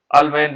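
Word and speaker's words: Ullmann: उल्मैन अभिक्रिया कहते हैं, या अल्मैन रिएक्शन भी कहते हैं। कहीं कहीं पर प्रोनाउंसिएशन पर डिपेंड है ना, उल्मैन, उल्मैन भी कहीं पर लिखा होगा उल्मैन, कहीं पर अल्मैन लिखा होगा, ये सब प्रोनाउंसिएशन पर डिपेंड करता है।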